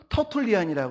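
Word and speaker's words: Tertullian: 바로 뭐냐면 터틀리였었어 테러툴리안으로서 이걸 영어 발음으로 하면 터틀리안이라고 하는데요 이분이 성경에 있는 것을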